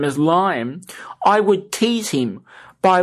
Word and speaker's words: Liam: Well, my younger brother's name is Liam, Liam, and Eloquence does not pronounce that correctly.